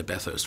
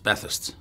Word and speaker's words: Bathurst: Apparently I say Bathurst wrong. It's Bathurst. Bathurst.